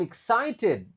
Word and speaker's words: excited: I am excited. Excited. I-nya dibaca I.